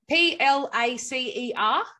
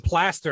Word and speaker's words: placer: P-L-A-C-E-R. That's right. Plaza. Well, I'm in mining. Yeah. It's placer, but I mean, it's spelled placer. Yeah, you kept saying plaster, and I was picturing